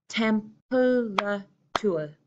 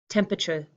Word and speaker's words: temperature: with a clear pronunciation I'm cutting this word into three pieces and it sounds like temperature temperature temperature what's the temperature this